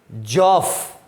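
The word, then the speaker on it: Geoff: Next character जो इस story में है वो है जॉफ। जॉफ, पहले उसका प्रोनाउंसिएशन देख लो, थोड़ा बोलना सीख लो उसको। जॉफ बोलेंगे उसको, स्टोरी में आएगा जहां भी।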